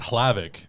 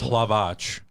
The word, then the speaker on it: Hlavac: name wrong technically because it's not hlavic it's lavatch because check oh it's short for